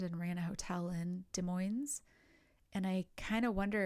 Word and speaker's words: Des Moines: I've heard this pronounced many different ways, but I think it's Des Moines community.